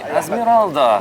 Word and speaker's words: Azmeralda: So, Azmeralda. Yes, that's welcome. correct. Right, I pronounced it correctly.